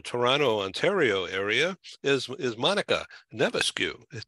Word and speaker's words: Navascues: I'm in San Diego, and in the Toronto, Ontario area is Monica Navascues. Did I pronounce that right? Navascues, really. No, it's it. I stand corrected.